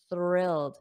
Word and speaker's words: thrilled: thrilled repeat after me thrilled so make sure you get that th so notice my tongue goes between my teeth but it's unvoiced which means there is no sound so you only hear